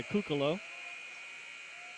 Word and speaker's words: Cucalo: First free throws off the mark by Cucalo, who has not scored in the game. I don't know if he's a Van Morrison fan, but his name rhymes with Tupelo, so he could.